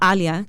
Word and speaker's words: Aalia: name right nobody because first of all alia they're like a Lia and so I'm always like no no no Ali I say just pretend